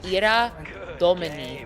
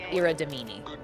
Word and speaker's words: Ira Domini: I need you with so much love and respect pronounce it Ira Domini, not Ira Dominy.